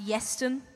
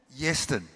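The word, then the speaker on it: Ieuan: Traditionally in Wales, it's pronounced Yeston. Yeston.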